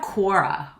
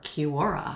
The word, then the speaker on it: Quora: more then we have quora or Kora I think it's quora I've heard people pronounce it differently but it's a very